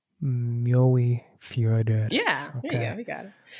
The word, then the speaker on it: Mjóifjörður: Can you pronounce that one more time? Yeah, Mjóifjörður. Mjóifjörður.